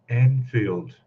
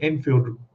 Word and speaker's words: Anfield: Lee from an anfield I have a problem pronouncing that word for some reason Enfield Road that's probably because there's a suburb here called Enfield and it in my head but anfield anfield load road layout